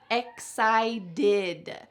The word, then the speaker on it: excited: This last word just sounds like did, excited.